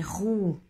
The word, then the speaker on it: roue: La différence, la première c'est le U français, rue, et le deuxième c'est le O et le U, donc le son OU, como la U en castellano. U, OU, U, OU.